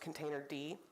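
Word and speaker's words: containerd: Cloud providers default to containered which is actually pronounced container D and each stack of burgers here is a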